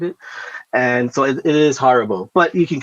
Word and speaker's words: Haribo: So Haribo is how you say it in German, and it's very specific why you say it like that, because the catchphrase is